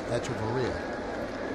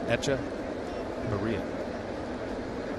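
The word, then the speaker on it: Hechavarria: told me, no, it's Echevarria. So don't pronounce the H. And don't pronounce the V. I'm on the V now. It's B. You get the H. It's Echevarria.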